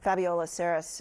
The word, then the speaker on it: Fabiola Cineas: I believe Fabiola Saris is the way to say her name.